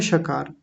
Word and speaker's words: श: श का आप श बोलिए तो जीभ हमारी मुड़ के तालू पर जाकर के लगेगी। बोलिए श हल्की सी जीभ घूमेगी गोल होगी और घूम कर के तालू पर जाकर के लगेगी।